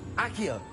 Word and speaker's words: Accio: Accio!